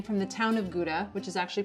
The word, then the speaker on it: Gouda: actually takes its name from the town of gouda which is actually pronounced hauda young gouda tends to be creamy and buttery